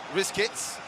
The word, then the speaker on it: Rizkits: Rizkits. Like biscuits. Exactly. These guys give us no option but to pronounce the name somehow. Nice work from Draco, but Rizkits manages to get the goal kick.